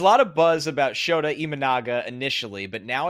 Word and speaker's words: Imanaga: There was a lot of buzz about Shota Imanaga? Imanaga. Could have been worse. Yeah. There was a lot of buzz. This is from Noel again, by the way. There was a lot of buzz about Shota Imanaga initially, but now it's gone quiet.